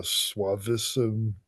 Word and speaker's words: suavissimus: Suavissimus?